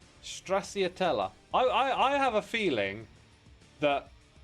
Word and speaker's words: Stracciatella: Straticelli? Can I even say it correctly? Stracciatella.